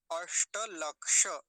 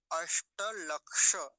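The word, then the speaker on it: अष्टलक्ष: लीजिए नए सदस्य य कैसे बनता है ककार हलंत और मूर्धन्य सकार इन दोनों से मिलकर बनता है य है ना तो दोनों स्थानों पर मर्न सकार का उच्चारण होना चाहिए अष्ट लक्ष अष्ट लक्ष ऐसा करके बोलेंगे अष्ट लक्ष अगला शब्द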